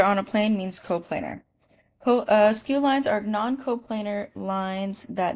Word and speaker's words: skew: And this is a new word for us, but skew, that's how you say it, skew.